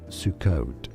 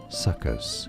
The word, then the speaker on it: Sukkot: Two correct pronunciations therefore in English. Sukot. Sukot. Okay. And suckus is the other way of pronouncing it.